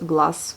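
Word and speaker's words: глаз: Pareil avec le mot œil, glace, ça s'écrit glace, mais ça se prononce glace, voilà.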